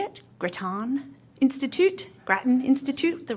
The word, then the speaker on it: Grattan Institute: the how do you say it Grattan Institute Grattan Institute the right pronunciation really good that's a good read actually